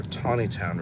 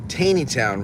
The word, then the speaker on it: Taneytown: It's a good way to get from the Taneytown Road, or Tawnytown Road as it's properly pronounced, over to the Baltimore Pike. Our GPS the other day called the Tawnytown Road Taneytown Road, and then said,